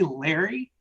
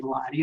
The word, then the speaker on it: Lodi: he asked me pointedly are you trying to say Larry as if I was having trouble pronouncing my own name he looked shocked when I told him no I was actually trying to say Lodi and then I realized